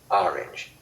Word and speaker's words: orange: that not long ago it is a h r i n j orange not a w n j getting the pronunciation tuned